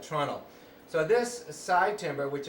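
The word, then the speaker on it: treenail: a whittled pig called a tunnel which is spelled tree nail but said tunnel so this side timber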